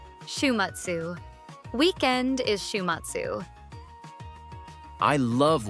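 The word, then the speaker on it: 週末: Listen carefully. Shumatsu. Can you hear the syllables? Shumatsu.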